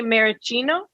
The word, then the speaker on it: Maraschino: very Americano no but you say maracino like it's Italian like Americano Cherry I don't know that's